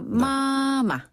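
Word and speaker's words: 妈妈: 빠바 맞아네 빠바 그다음에 엄마는 엄마 할 때 맞 자를 살려서 마마 마마 마마 마마 그렇죠 잘하셨어요 오 요거를 또 그냥 가볍게 아주 짧게 부르는 호칭은 그냥 빠네 빠 마 마라고 합니다 어 그래요네 빠바네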